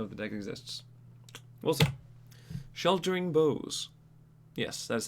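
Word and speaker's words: Sheltering Boughs: the deck exists wilson sheltering bows yes that's how you pronounce that it's not burrows there's no r so for three mana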